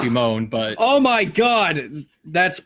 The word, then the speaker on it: Simon: Well, they pronounce it Simone, but oh my god, that makes it perfect.